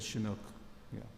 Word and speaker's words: Chinook: How do you pronounce it? It's a kind of Good one. Yes, it's a it's a transport Chinook?